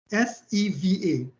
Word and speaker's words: seva: There's a Sanskrit term called seva, S-E-V-A, but we pronounce it seva because the W in the V in Sanskrit is W, pronounced as W.